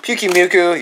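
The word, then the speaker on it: Pyukumuku: Pukimuku. Yes, I know how to pronounce that finally.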